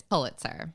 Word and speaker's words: Pulitzer: say this word and I decided to go with poo so that's what I'm doing and I'm saying Paul it's Pulitzer yeah and we have